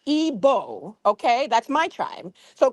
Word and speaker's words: Igbo: Now, you said that she's Igboo. It's pronounced Ebo.